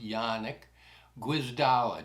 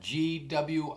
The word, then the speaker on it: Janek Gwizdala: His name is spelled Janek, but it's pronounced Janek Gwizdala, Gwizdala.